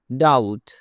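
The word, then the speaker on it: doubt: হি pace দা date ডাউট এখানে be silent ডাউট মানে সন্দেহ আমার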